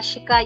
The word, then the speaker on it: chic: R F L are four letters that are pronounced at the end. She Okay, we have some someone saying she. Yes. Yeah. Shika, you got it.